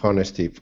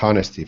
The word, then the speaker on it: honesty: the article, Honesty, Surprising Honesty at Funeral. This is a honesty funeral. People react as Sorry, they... pause 1 moment. Rafa, the H is silent, so it's honesty.